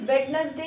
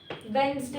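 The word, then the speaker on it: Wednesday: right इसी तरह से वेडनेसडे नहीं होता वेनसडे होता है वेनसडे डेवलपमेंट फिनोम मतलब होता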